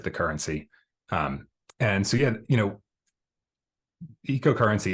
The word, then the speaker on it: Eco: And is it Eco or Echo? Eco. Yep. Eco.